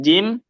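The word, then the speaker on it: جيم: Jim ada huruf C ada huruf C-nya. Nah, biasanya umum tuh yang dia medok. Ja. J Auzubillahiminasyaitanirrajim. Jim. Nah. Itu dia tuh itu C ya harusnya Jim ya udah pure J aja enggak usah ada C-nya gitu.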